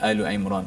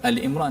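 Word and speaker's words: Ali Imran: So bacanya Al-Imran. Ada orang baca Al-Imran ya. Itu tidak tepatlah.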